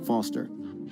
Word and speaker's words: Foster: I'm Foster. I'll remember that Okay, easy Foster. because your name rhymes with fossil and you're old.